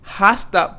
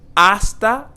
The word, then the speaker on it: hasta: soon hasta pronto and here we have the silent h so we're not going to say hasta pronto but we're going to say hasta pronto hasta pronto I